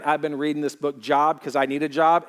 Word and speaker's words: Job: If you don't know it's pronounced Job, you just look for the book called Job, okay?